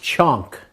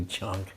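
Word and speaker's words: chaunk: another preparation, and especially, it's pronounced chonk in America because we'd spell it different ways. We say chaunts sometimes, so we didn't know how to say it then either, but it's actually chonk.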